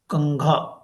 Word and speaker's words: कंघा: तो ये साउंड करेगा आपको न की तरह, लेकिन ये है क्या, कंघा, कंघा। आप देख रहे इसमें साउंड, अगर मैं जब प्रोनाउंस कर रहा हूं तो कैसे आ रहा है, कंघा।